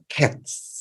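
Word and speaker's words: קֵץ: kain lalu kesudahan itu menggunakan huruf qts dibacanya cats Nah jadi antara dua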